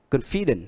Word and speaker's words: confident: Đó, đuôi tiếp theo đó là có cái từ ngoại lệ đó là confident, là nhấn trước nó hai âm confident. Bình thường chúng ta hay bị lỗi ở cái đời, hay phát âm là confident, nhưng mà ở đây là confident, đó là ngoại lệ.